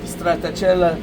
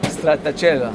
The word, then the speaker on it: stracciatella: Cherries with cracked stracciatella chocolate. How do you say it again? I want to test you on that. Stracciatella.